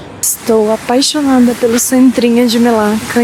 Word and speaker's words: Melaka: Ou Melaka, que é como eles pronunciam aqui, né? Não sei se a pronúncia tá certa, mas escreve-se Melaka.